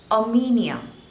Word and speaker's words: Armenia: are correct next is Armenia Armenia a me Nia so there are three syllables and you have to stress on the seconds label or media a Mania